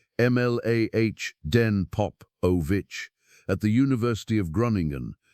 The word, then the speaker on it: Mladen Popovic: So a team led by Professor Mladen Popovic, pronounced Mlah Den Popovic, at the University of Groningen, pronounced Groningen in the Netherlands, set out to build something better.